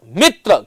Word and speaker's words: मित्र: संयुक्त वर्ण है, तो मित्र की मी, मित्र, क्योंकि जब हम इसका उच्चारण करते हैं तो जरा मी जो है उस पर थोड़ा बलाघात करना पड़ता है, मित्र बोलना होता है, न कि मित्र।